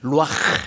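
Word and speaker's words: רוּחַ: 생기가 이게 히브리어로 루아흐. 따라합시다. 루아흐. 가래 끓는 소리가 좀 나야 발음을 제대로 한 거야. 루아흐.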